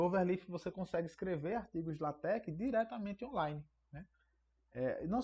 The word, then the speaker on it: LaTeX: na minha na minha dissertação eu trabalhei usando latex né a gente já escreve latex mas a pronúncia lat que é um modo de você